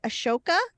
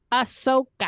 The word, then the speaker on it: Ahsoka: Ashoka? Ahsoka. Oh boy, Anne. Ahsoka. Abby 2 writes in Ahsoka's background. If anyone is interested in learning more about Ahsoka's background, Disney Plus has a great Ahsoka Tano Essentials playlist.